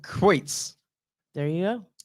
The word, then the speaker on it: Kreutz: Kreutz. There you go. Kreutz.